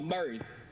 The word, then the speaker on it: Murray: name paul what is your last name uh murray murray could you spell that for me we're not clear oh sorry